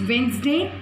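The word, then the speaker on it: Wednesday: Common noun में सिर्फ डे था, यहाँ पर वेंसडे, that is वेंसडे, the silent होता है वेंसडे में.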